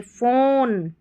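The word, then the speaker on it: phone: अगर ऐसे daily practice करते हैं तो फिर देखिए PH जो है इसको फ पढ़ेंगे, जैसे फ़ोन, फोटो, तो PH साथ में आएगा, फ़ोन पर PH को फ पढ़ना है, जैसे फ़ोटो और फ़ोन में पढ़ा।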